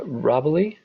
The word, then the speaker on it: Robbily: be happy to uh robbily did i pronounce your name right i apologize if not yes thank you jason that was perfect probably rhymes with wobbly got it um i